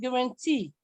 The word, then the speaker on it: guarantee: You have guarantee. So the stress is on the last syllable.